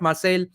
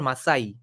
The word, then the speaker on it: Marseille: On the way to India, he tried to escape at Marseille. I don't know how to pronounce this, Marseille or Marseille.